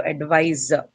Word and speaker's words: advisor: originally being a verb you retain that stress right so advisor so in this one you're going to um have your stress on the second syllable wise okay in the case